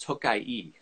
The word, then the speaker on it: Tokaj: has an i at the end so it's pronounced tokai so the region is tokai but the wines